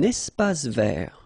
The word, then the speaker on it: espace vert: Un espace vert. First thing, you've got this little link between the two. Un espace vert. Final E not pronounced, and then final T not pronounced.